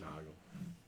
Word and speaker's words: Nagel: Do they pronounce it Nagels? Noggle.